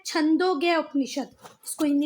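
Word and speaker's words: छान्दोग्य: Spelling ये वाली learn करना, पर बोलना छांदोग्य ही, नहीं तो किसी हिंदी वाले को बोलोगे ना चांदोग्य उपनिषद, है ना, तो जो ब्राह्मण पंडित होगा ना वो मारेगा आपको पकड़ के, क्या बोल रहे हो भैया ये?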